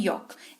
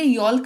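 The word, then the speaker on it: yolk: उसको कहते हैं योक एल रहता है क्योंकि एल के बाद ही के है जो कि साइलेंट लेटर रूल्स के हिसाब से अ जब भी एल के बाद के होता है तो एल जो है साइलेंट हो जाता है तो इसको योक पढ़ेंगे यल्क नहीं पढ़ेंगे ठीक है तो चलिए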